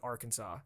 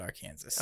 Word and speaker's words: Arkansas: I think when you're talking about the street, we call it Arkansas. Okay. So I think I've heard it more that way than Arkansas. Basically, if you say anything labeled a name here that's spelled like that, it's Arkansas. But if you're talking about the state, it's Arkansas. It's so weird.